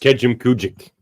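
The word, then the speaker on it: Kejimkujik: Now pronounced Kejim Kujik.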